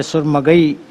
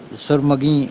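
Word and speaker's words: سرمئی: خاص طور پہ، کہ جیسے ایک جگہ پہ سرمگئی کہا گیا، سرمگی لفظ کو، یا ثناء خاں کہا گیا، ثنا خاں کو، تو یہ ایسے تلفظ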